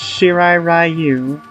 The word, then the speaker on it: Shirai Ryu: has always been pronounced shirai Ryu yes I know that's not how you say the word in Japanese it's it's just always